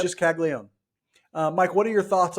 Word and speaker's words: Caglione: I think it's just Caglione. I think we mispronounced it our entire draft episode. It's just Caglione.